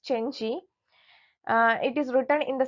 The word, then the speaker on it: Cenci: Shelley's The Senshi. So, its full title is The Senshi, a tragedy in 5 acts, 1820. Actually, it's pronounced Chenchi.